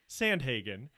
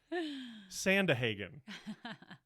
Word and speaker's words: Sandhagen: called me out, and I was mispronouncing somehow Sandhagen, and I was saying Sandahagen. I was saying it almost with like an Irish lilt. Sounded really nice.